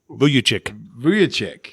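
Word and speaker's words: Vučević: Vucevic? Vucevic.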